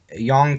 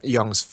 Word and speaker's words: Yong: Well, your name is Yong, is how you pronounce it? Yeah, just call me, well, yep, Young's fine, or whatever seems easier for you.